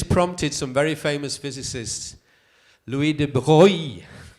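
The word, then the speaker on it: Louis de Broglie: some very famous physicists Louie de Bie that's the French way to pronounce his name when a Heisenberg Niels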